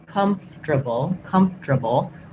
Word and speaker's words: comfortable: One, we say comfortable, which basically isn't quite right, but that's how we say it. Comfortable, or comfortable. Or we say more like, same thing, comfortable. So you can do 4 syllables.